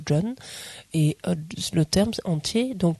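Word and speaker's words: སྒྲོན: entier, c'est John Ma, dans ce que vous avez S-G-R-O-N, ça se prononce John, et le terme entier,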